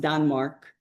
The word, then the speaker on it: Danmark: Denmark in Danish is pronounced Danmark.